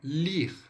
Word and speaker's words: lire: A primeira aí, a mais utilizada, é o lire, tá? Vamos lá, vamos pronunciar o ler em francês de forma correta. Lire, lire, d'accord? Lire.